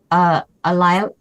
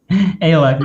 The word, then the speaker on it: Alac: Prinka Pissa Ilac? Alac, yeah. Alac.